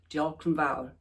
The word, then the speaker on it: diolch yn fawr: said, and I hope I get this right, diolch yn fawr.